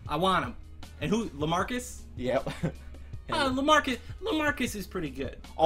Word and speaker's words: LaMarcus: LaMarcus? Yep. LaMarcus is pretty good. Aldridge rhymes with bridge, like all the bridges.